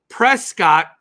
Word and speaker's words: Prescott: it tuxen I know it's Tucson and then Prescott is pronounced Prescot Arizona it's spelled Prescott but you